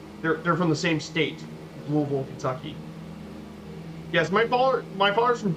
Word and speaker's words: Louisville: Louisville lost to a Division II school. I don't mind. You say it like Louisville, correct?